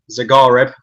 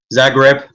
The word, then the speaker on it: Zagreb: in group stage we've got Bayern Munich Dynamo zareb I think I've said that right Zagreb I didn't say it right and the olympos